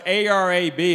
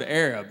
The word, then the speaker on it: Arab: It's spelled A-R-A-B. They don't pronounce it Arab.